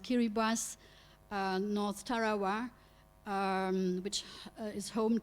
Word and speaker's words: Kiribati: of of the capital of Kiribati pronounced Keira bass North Tarawa which is